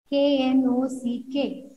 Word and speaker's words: knock: KNOCK.